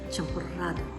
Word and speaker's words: champurrado: In Mexico, one can order champurrado. They spell it with a double R, and they have that Spanish trill.